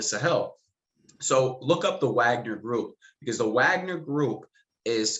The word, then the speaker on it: Wagner: russian mercenaries within the wagner group or uh wagner group rather is the proper pronunciation but it's spelled wagner so i urge people